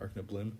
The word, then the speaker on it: Arcana Bloom: hello to amethyst arc her real name is arc blim or arcana bloom yeah that's how you say it amethyst was a tournament